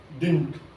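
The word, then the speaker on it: didn't: डिड नॉट को हम बोलते हैं डिंट.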